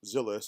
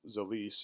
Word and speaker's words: Zilis: are working with and working for is called zealous that's not pronounced Zyliss is pronounced Solis and it's it's a combination of two swahili